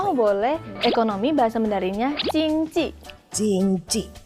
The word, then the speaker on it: 经济: Ekonomi bahasa Mandarinnya Jingji.